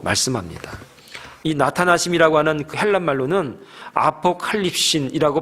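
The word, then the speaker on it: ἀποκάλυψις: 나타나심을 기다림 이라라고 말씀합니다이 나타나심이라고 하는 헬란 말로는 아포칼립이라고 발음을 합니다이 말의 원래 뜻은 뚜껑을 열어 제기다 얘기입니다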